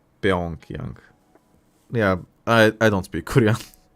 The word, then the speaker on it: Pyongyang: It's pronounced Pyongyang. Pyongyang.